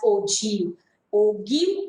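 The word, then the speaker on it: ogive: spelling is o g i v e will pronounce this as o g o g downward direction is that clear this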